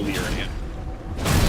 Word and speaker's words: Liurnia: And then we're going to go to Liurnia, which is another pronunciation.